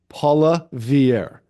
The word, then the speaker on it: Poilievre: name again uh Pierre poier poier Paula Vier Paula Vier there you go pierier okay so Mr P